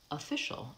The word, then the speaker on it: official: helping you another example office we have the vowel oo for the Oh F and that's the stressed syllable office versus official it becomes the bagua office of official here's another tricky one